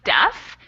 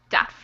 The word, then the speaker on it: deaf: That one is actually deaf. It's very irregular, but we pronounce it with a short sound instead of a long sound there. Okay, deep. Mm-hmm. Deaf.